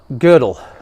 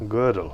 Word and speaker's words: Gödel: Okay, so Gödel, he says religions. Your pronunciation of which, are by bad.